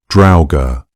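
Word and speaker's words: draugr: The pronunciation that most closely matches the old Norse original sounds something like drower with the first syllable rhyming with the English word cow.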